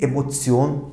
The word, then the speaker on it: Emotion: Bakın burada sanki tıpkı bir Z varmış gibi davranıyorum. Die Emotion. Burada çoğunlukla öğrencilerde yanlış yazım olabiliyor arkadaşlar. Ama bu mutlaka T ile T on şeklinde yazılması gerekiyor. Ama bunun fonetik olarak, değil mi, telaffuzu neymiş? Die Emotion imiş.